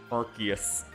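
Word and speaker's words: Arceus: How to pronounce Arus. Arus. Yeah. Arus. Arus. Arus. Arus. Yeah, I think it's the same pronunciation I'm saying. Arus. Archus. Yeah, I think I've heard some people say Archus. Yeah, Arus. Arus. That's what I've been saying the entire time.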